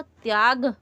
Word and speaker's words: त्याग: अगर होता तो हम इसको पढ़ते त्याग, अ त्याग, लेकिन हम अ का उच्चारण नहीं करते हैं हिंदी में, इसीलिए इसको त्याग पढ़ते हैं।